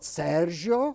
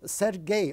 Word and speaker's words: Sergei: It's not Sergio, as it's not. He's not French. It's a Sergei or Serge Parajanov.